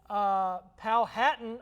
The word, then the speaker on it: Powhatan: Powhatan, I've been told, is how you pronounce that.